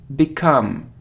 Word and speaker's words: become: It isn't become, no, it's become. It's like begin, become, e, okay?